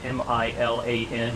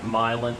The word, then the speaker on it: Milan: County historian long enough every time you see a name spelled m-i-l-a-n you call it myelin instead of Milan which always reads very